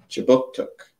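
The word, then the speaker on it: Kjipuktuk: So before we begin, I would like to acknowledge that RightStar Newcomer Services conducts business in Chibuktuk, which is how you say Halifax in the Mi'kmaq language.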